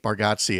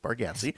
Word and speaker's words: Baraty: baraty baratti okay uh I I always used to say Nate baratti and then I realized he probably didn't want his name to rhyme with Nazi so get it right Pat it's Nate baraty and he's really good